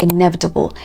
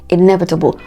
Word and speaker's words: inevitable: as always you have a word like inevitable inevitable not inevitable okay you have a